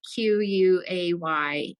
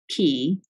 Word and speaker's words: quay: Q-U-A-Y is key. Q-U-A-Y? Yeah, not quay. It's key. They pronounce it key.